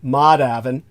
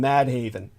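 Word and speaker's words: Madhavan: a last name of Maven which I'll to it's spelled m a d ha A V an so you can bet everybody calls him mad Haven uh it's published by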